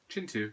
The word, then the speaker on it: Kintu: writer and you're interested in looking storytelling then Chintu does it properly also you may have noticed